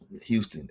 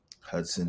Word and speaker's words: Huston: People always say my name wrong. They always say Hust and Hudson and all this other Right. True. Houston. Houston. Yeah. Like the city down in Texas.